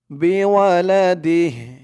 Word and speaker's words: بولده: দাল দিয়ে হা ধরলে যেমন উচ্চারণ হয় দালের নিচে জের দিয়ে দিহ তেমন হবে এখানে বিওয়ালাদি ওয়ালা মাউলুদুন লাহু বিওয়ালাদি।